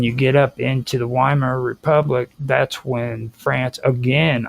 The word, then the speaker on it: Weimar: You keep on calling it the Weimar Republic. Weimar. Remember Weimar. what? Yeah, what the German would use the W, it would be a V.